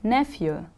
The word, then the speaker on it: nephew: repeat after me please nephew the stress is on the first syllable nephew good can a boy be